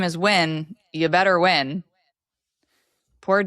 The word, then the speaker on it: Nguyen: And today we are interviewing Wyn, and her last name isn't spelled W-I-N, but it is pronounced like that.